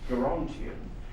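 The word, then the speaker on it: Gerontion: Gerontian depends throughout on what it is that you must have hard G. Geriatric, fine, but Gerontian.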